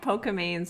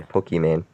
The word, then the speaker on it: Pokimane: Why'd you say Pokemane? I mean, that's kind of how you actually pronounce it. Like her real name's Imane. Yeah, but I thought it was well, she has an I, Pokimane. Didn't I say that? No, you said Pokemane.